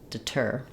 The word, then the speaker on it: deter: or take it's an aspirated T and it functions just like the T at the start of a word so there should be a little puff of air tur deter um that's because this syllable is stressed so I say the T with the burst of Air versus in de de I use what's called a flap T there's no burst of air because in De the stress falls on the first syllable de so now letters